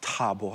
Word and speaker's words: Thabo: It's soft T. Oh, excuse me. Yeah. Wait, what's soft? The T is soft. It's Thabo, like a former president.